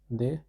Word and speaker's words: depuis: The pronunciation of depuis is depuis.